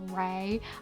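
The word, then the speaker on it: Rei: I pronounce names wrong so much cuz like sometimes look look when I found out that the name R E I was pronounced Ray I was like that's that doesn't sound nearly as cool as Ry.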